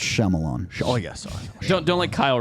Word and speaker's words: Shyamalan: pronounced Shyamalan.